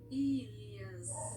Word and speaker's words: Ilias: Elias ou Eliás? Deixa eu pegar uma pronúncia correta aqui que eu tô falando para não falar bobagem. Ilias. Ilias.